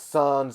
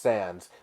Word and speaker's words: Sans: But yes, I do know that the character's name is pronounced Sans. Like comic sands.